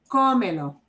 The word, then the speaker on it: cómelo: You would think from the way it is written that you would punch the me, but we don't. The way we pronounce that word, we punch the O.